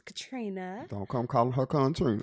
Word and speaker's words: Contrina: On Facebook it is Contrina, CON. The N is silent. Yes, it's Contrina.